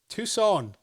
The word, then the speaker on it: Tucson: Tucson. Have you ever been? I don't recall. It's It's a place that had two suns.